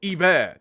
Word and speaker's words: Iver: Oh, Iver. That's how you pronounce it. Kind of like Bon Iver.